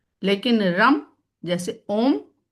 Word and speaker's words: ओम: ओम के लिए सही उच्चारण है ओम।